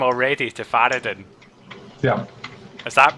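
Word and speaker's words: Faradin: talking or you've changed your name already to faraday yeah is that pronounced suck is that f-a-r-a-d-i-n is silent um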